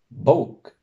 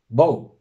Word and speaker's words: bók: Bok. Bok. Tenemos una B al principio que, al contrario que el islandés, no va a ser una P.